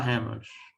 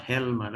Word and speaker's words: Helmer: Okay, her L is silent or will be silent while we pronounce the word or the surname of the female character, Nora Hammer. not Helmer, okay?